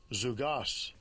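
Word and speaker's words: ζυγός: balances, and blue letter, the Greek word is zygos. Okay, it's like right here, zygos. Play it real quick. Strong's G 2218, zugos.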